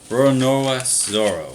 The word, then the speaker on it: Roronoa Zoro: I may be saying that name wrong. Roronoa Zoro.